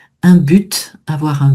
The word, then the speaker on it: but: Ça fait partie de ce ce fame consonne finale qu'on va prononcer alors que d'habitude on le prononce pas. Un but, avoir un but.